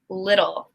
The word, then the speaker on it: little: I see little. So little follows the rule. It's a D sound.